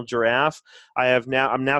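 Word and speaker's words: Jirav: as in Victor but it's pronounced like the animal giraffe I have now I'm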